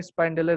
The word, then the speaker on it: spyndle: আর এখানে যেটা এসপিওয়াই, ওটা কিন্তু বানানটা হচ্ছে SPYNDLE, স্পাইন্ডেল।